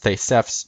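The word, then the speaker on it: Θησεύς: And Theseus, compared to Isos, is actually a name. Okay, no. The words Theseus and Aspis, or in Greek it'd be pronounced Thesefs and Aspis, an asp, Aspis being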